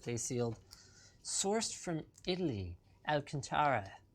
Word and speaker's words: Alcantara: Alcantara. Alcantra?